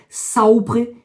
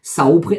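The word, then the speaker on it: saupre: mais surtout nous allons commencer par le verbe saopre qui veut dire savoir sapre en provençal s'écrit S a u P r e allez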